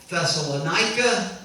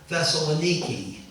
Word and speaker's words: Thessaloniki: knows the Greek city I've heard Christians argue is the Greek city thessalonica or thessalonica but you go there and all the Greeks pronounce it who live there Thessaloniki so you see a